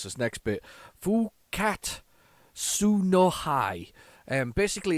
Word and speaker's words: Fukkatsu no Hi: invaders i've got to be very careful i'll pronounce this next bit full cat su no hi and basically it's it's it's the it's the